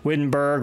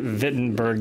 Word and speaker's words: Wittenberg: the podcast today the wittenberg or as he was pronouncing it I Berg the German pronunciation so I guess I got to start calling it fittin Berg now since since he